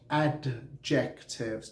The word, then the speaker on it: adjective: It is adjective, not adjectives. Don't say D, okay? Say adjective. A and then D is silent, so adjective. Adjective, what is adjective?